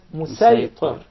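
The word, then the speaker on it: مصيطر: with a specific dialect, the Sad will be deliberately pronounced as Sin. For example, when we say Musaytir, we'll recite it as Musaytir.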